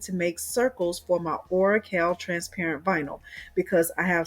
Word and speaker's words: Oracal: And I call it Oracal. Some people call it Oracle. The CAL, the teacher in me, pronounces that as Oracal.